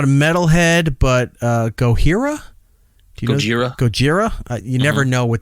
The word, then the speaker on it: Gojira: Gojira. So you do pronounce the J. Yeah, Gojira.